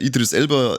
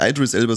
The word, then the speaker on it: Idris Elba: Und Ja, da ich hab mit so einem Aussprachendepp geoutet beim Suicide Squad, weil der Idris Elba, ja nicht Idris Elba, sondern Idris Elba heißt.